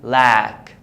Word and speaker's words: lack: The A is pronounced as in man. So I say lack, lack.